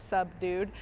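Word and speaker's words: Subdude: does a few different and that's spelled s-u-b-d-u-d-e like a sub-dude um and uh sub-dude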